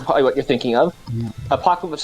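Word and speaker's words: Apokolips: Apocalypse spelled like APOK. Apocalypse. Yeah, like with- ALIPS.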